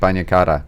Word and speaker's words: bagna cauda: Bagna, it's like a bath. Yeah, yes. Yeah, bagna cauda.